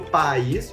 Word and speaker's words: país: O encontro do a e do i é em sílabas diferentes. Portanto, a gente tem um iato diferente da palavra pais, que o a e o i estão na mesma sílaba. Então a gente tem um ditombo.